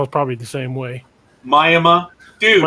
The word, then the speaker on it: Miami: of its own language and how do you pronounce it uh we we know it as mayama yeah it's miami but they they call it